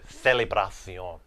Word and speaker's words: celebración: So, celebración.